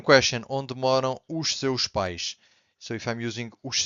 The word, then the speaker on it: pais: But os pais, which is the word that we have here, pais, so we stress the P and the A, pais, means parents, okay?